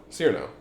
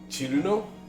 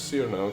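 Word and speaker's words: Cirno: Cyrano. Some people say Chiruno. I always said it as Cyrano, because that's correct.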